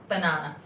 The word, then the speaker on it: banana: called a perky Nana because we pronounce banana with a long a sound banana um and then your